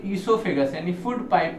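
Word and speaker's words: oesophagus: याद रखिएगा ओ साइलेंट है, इसे हम लोग पढ़ते हैं ईसोफेगस।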